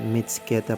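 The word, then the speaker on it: Mtskheta: dito sa city of m keta Uy miss ka na niya mali pala according to Uncle Google mits keta pala ang tamang pronunciation nito dito pala nga feel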